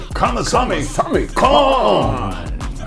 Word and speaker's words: Kamasami Kong: Kamasami Kong.